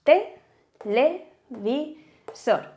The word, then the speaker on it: televisor: En este caso, cuando pronunciamos televisor, la fuerza la hacemos aquí, la hacemos en sor. Por lo tanto, sabemos que es aguda.